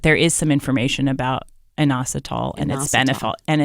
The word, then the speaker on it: inositol: I've read about a supplement called, and I can't pronounce it, inositol. Inositol.